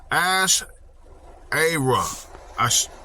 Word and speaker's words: Asherah: Let's see how to pronounce this. Asherah.